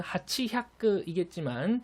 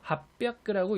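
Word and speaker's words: はっぴゃく: 800 같은 경우에는 원칙대로만 읽는다면은 하치 햅크이겠지만 초금화 및 반타금화가 진행돼서 합벽크라고 읽어야 올바른 읽기 방법이고요.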